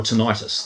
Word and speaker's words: tinnitus: and I got in touch with their specialist tinnitus clinic that they have, or tinnitus is the other way it's pronounced, isn't it?